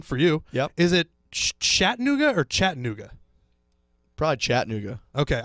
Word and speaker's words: Chattanooga: I think Chattanooga well this is because we're we pronounced at different ways I think shatta new go sounds like cooler and more mysterious so okay interesting so